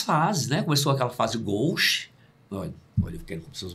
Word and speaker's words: gauche: E essa palavra é francesa, a pronúncia é gauche.